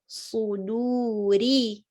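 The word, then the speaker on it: صدور: And suduri, ri, not ri, suduri, no, suduri, do. And also dal is also light, do. Don't say do, sudu, not like a dad. Don't say suduri, say suduri, do.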